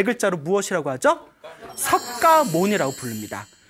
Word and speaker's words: 석가모니: 그래서 이 샤카무니가 이제 한문 문화권 중국으로 넘어오면서 석가모니라고 이제 필기가 되었고 우리는 발음하기를 이제 똑같이 석가모니라고 이제 발음을 하고 있습니다.